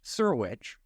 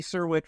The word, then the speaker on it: Syrewicz: So if you want to look him up, his name is pronounced Serwich, but it is spelled SYREWICZ. Those last three letters were C as in Charles, Z as in Zebra, E. Andy Serwich, look him up.